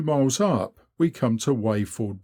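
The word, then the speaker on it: Wayford: up we come to wafford bridge pronounced locally wafer here the master bar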